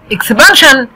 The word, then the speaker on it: expansion: expansion طبعا هي خلفت المرة دي، احنا بناخد ال s i o n وبننطقها جن، بس هنا مع كلمة expansion هننطقها شن.